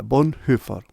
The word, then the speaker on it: Bonhoeffer: está pregunta el texto Von heard así se pronuncia bondford ojo una guía confiable